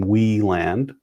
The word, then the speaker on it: Wieland: Oh, it looks like I correctly pronounced Sean's last name, Wieland.